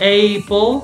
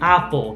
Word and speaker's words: apple: like this so not a pole because this is closed you remember the room so this is so apple not apo apple apple this happens this